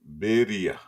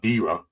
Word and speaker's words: birria: Birria. Birria tacos. Yeah, see, he even says you suck at pronouncing it. I'm not Spanish, but that's what they say to me. But it's not birra.